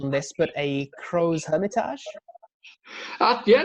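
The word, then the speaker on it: Crozes-Hermitage: Another one, and tell me if I got the pronunciation on this, but a Crow's Hermitage. Yeah, not bad. Yeah, Crow's Hermitage.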